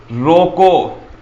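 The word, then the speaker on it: ρ: में आ जाना चाहिए रोको इसका उच्चारण है वह रो यह जो हमने पहले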